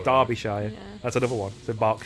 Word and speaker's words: Derbyshire: like derbyshire obviously it looks like derbyshire it's derbyshire that's another one so box sharing derby yep